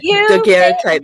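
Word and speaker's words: daguerreotype: The Daguerre type, or however you pronounce it. Yeah, Daguerre type.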